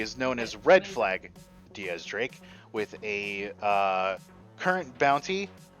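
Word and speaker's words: X Drake: have uh DX drink or in this case Diaz Drake as it's supposed to be pronounced but his name they it's an X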